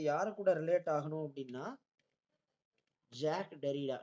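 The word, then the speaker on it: Jacques Derrida: Deconstruction இந்த deconstruction அப்படின்னாலே அது யாரு கூட ரிலேட் ஆகணும் அப்படின்னா ஜாக் டெரிடா. இது ஆக்சுவலா ஜாக் டெரிடான்னு ப்ரொனவுன்ஸ் பண்ணணும். ஓகே, ஜாக்கஸ் டெரிடான்னு தான் இருக்கும் spelling, but it should be pronounced as jack டெரிடா.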